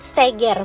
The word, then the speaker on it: Seger: disekitar sirkuit Mandalika ini namanya Bukit Steger bukan Bukit seger ya boars jadi pengucapan Edi Lombok ke gak Gak sesuai perkiraan kita Nah untuk aksesnya sendiri